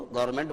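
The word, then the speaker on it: government: हालांकि अलग बात है कि जब आप उसका प्रोनाउंसिएशन करते हैं तो एन को साइलेंट रखने की आवश्यकता है, क्योंकि एन और एम दो कॉन्सोनेंट हैं और दोनों एक साथ आ रहे हैं, इसलिए एन को मत बोलो, गवर्नमेंट बोलना पड़ेगा।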